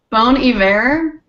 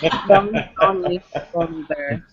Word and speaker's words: Bon Iver: Bon Iver. That was vulgar. Bon Iver? Bon Iver. How do you spell it?